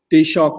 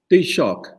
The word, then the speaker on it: Taoiseach: टी-शॉक कहते हैं। Taoiseach. Taoiseach. How is it pronounced? Taoiseach.